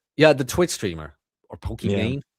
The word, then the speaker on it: Pokimane: Now Pokimane Yeah, the Twitch streamer or Poki Main? How do you pronounce it? Pokimane Pokimane.